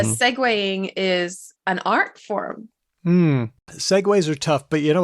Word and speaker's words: Segway: do it is it no no it's seg way it's how everyone pronounced it whenever I read the